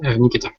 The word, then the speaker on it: Nikita: so is this how you say your name Nikita is that it yes Nikita oh nik nik nik Nikita right uh Nikita